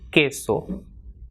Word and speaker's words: queso: If after QU, which is ku, if E comes, then it will be pronounced as K. For example, QUE will be pronounced as K. For example, queso.